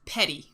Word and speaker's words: Petit: name because it is you would think it's called petit Hedgehog petit according to Google is uh it's just petty like you know you're being petty about something so so I can anyway